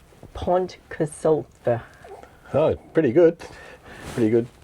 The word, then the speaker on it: Pontcysyllte: Just say Pontcysyllte. Pontcysyllte.